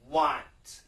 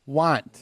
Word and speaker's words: want: So here we have want. Want. Want. Want. Wah. So Want. let's just concentrate on the W-A.